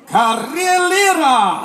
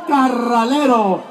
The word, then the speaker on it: Carralero: of Beekman, Señor Carrillera. Damas y caballeros, niños y niñas, pumas y más pumas, saludos de Beekman. Thank you. Gracias. Man, I said your name wrong again. It's Carralero.